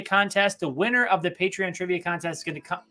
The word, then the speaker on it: Patreon: always say that's how you say it it's pronounced patreon thank you to all of our patrons all